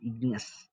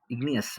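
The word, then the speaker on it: igneous: ಇಗ್ನಿ ಅಸ್ ಅಂತ ಕರೀತೀವಿ ಉಚ್ಚಾರಣೆ ಜ್ಞಾಪಕ ಇಟ್ಟುಕೊಳ್ಳಿ ಇಗ್ನಿಯಸ್ ಅದಕ್ಕೆ ನಾನು ಬಿಡಿಸಿ ಹೇಳ್ತಾ ಇದೀನಿ ನೋಡಿ ಇಗ್ನಿ ಅಂದ್ರೆ ಲ್ಯಾಟಿನ್ ನಲ್ಲಿ ಬೆಂಕಿ ಅಂತ ಸೋ ಇಗ್ನಿಯಸ್ ಅಂತ ಹೇಳಬೇಕು ಎಲ್ಲರಿಗೂ ಉಚ್ಚಾರಣೆ ತಪ್ಪಾಗುತ್ತೆ ಅಷ್ಟೊಂದು ಜನಕ್ಕೆ ಅದಕ್ಕೆ ಇಗ್ನಿಯಸ್ ಜ್ಞಾಪಕ ಇಟ್ಟುಕೊಳ್ಳಿ ಲಾವ ಮತ್ತು ಮ್ಯಾಗ್ಮಾ ಇಂದ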